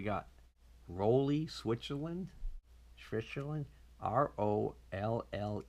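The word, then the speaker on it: Rolle: Rowley Switzerland Trisha Lee ro ll e Switzerland roll it's probably said that's probably pronounced roll I can't make out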